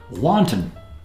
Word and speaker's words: wanton: Wanton, deliberate or unprovoked. Wanton. Not to be confused with wonton, like the Chinese wonton soup.